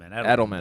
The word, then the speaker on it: Edelman: Edelman.